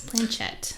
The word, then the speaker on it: planchette: he did um he conducted a planchette seance planchette right that's how you say it yeah so